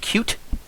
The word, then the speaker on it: Qt: Kyle here has led me to believe that it's pronounced cute, so I believe we should probably stick to that pronunciation of it.